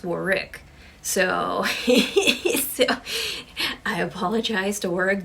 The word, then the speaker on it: Warwick: pronounce work davis because apparently i pronounced it warwick but it's war rick so i apologize to